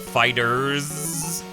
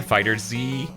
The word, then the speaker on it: FighterZ: I'm not gonna call it Fighters, but I am gonna compromise by running Fighter and Z together to make FighterZ. You can't just pronounce it as an S like most people.